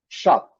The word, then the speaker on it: shop: Shop é o SH, a transcrição fonética é esse S comprido aqui, e nos dicionários nós vamos ver essa transcrição. Shop. Essa letra, então, representa o SH. E a letra O, com o som de A aqui um pouquinho longo, e o P, shop. Não, nada de Shopee, shop. Fecha na letra P.